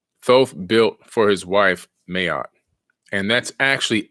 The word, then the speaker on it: Ma'at: So we're going to talk about the ancient god named Mayat, M-A-A-T. Mayat is actually the pronunciation.